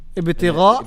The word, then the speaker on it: ابتغاء: A is part of Ibtigha and not Ibtigha, wajhi.